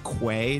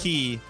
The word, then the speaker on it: quay: It was one of those things that you read, which I also said quay during the show, which yes, apparently you did. Is key.